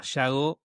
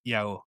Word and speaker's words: Iago: través de Iago, que yo lo pronunciaba Yago y me enteré por vos que es Iago.